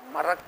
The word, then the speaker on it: مرق: ہیں، جس کو آپ مرق کہو، عربی کا لفظ مرق ہے، وہ میم را قاف، اکثر عرب تلفظ میں قاف کو گاو گاو گاو کے جیسا، خل کو گل کے جیسا استعمال کرتے ہیں، مرق کہو، خالص گوشت